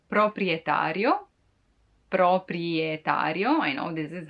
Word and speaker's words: proprietario: The owner is called proprietario, proprietario.